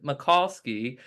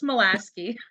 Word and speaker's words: Molasi: We have McCowski, Queen Anne's County Public Information Manager. Hello. Please tell me I said your last name right. Oh, you butchered it. It's Molasi. Molasi.